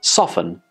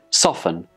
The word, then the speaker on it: soften: spelling is totally silent then we have soften soften again nota sound and here are some